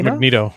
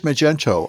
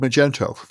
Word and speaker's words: Magento: Yeah, I thought it was Magneto. Magneto. I like Magneto. Magneto. There's a Magneto. It really is Magento. I made I learned this in CFP years ago. CTF. It It's really called Magento.